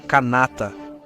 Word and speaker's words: Kanata: É uma palavra iroquesa, originalmente escrita e pronunciada como Kanata.